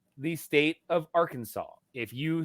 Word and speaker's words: Arkansas: spell it right and there's no w at the end of Arkansas it is Arkansas also illegal in Arkansas